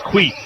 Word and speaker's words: Queeth: Yeah, I said Queth, it's Queeth. We finally got that straightened out, straight from the pronunciation part of Oklahoma, because his brother plays for the Sooners.